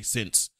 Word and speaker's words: Cyn: check out a blog called A Cup of Sin Tea. That's spelled CYN, the sin.